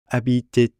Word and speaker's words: habitait: Since au begins with a vowel, we end up with liaison and have to pronounce the T on the end of habiter. Habitait au.